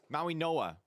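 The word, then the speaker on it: Mauigoa: Maui Noah. Whoops. Yeah. Yeah, it's a Hawaiian pronunciation. Maui Noah.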